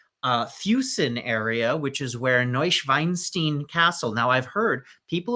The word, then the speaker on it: Neuschwanstein: from that area, and she says the proper pronunciation is Neuschwanstein.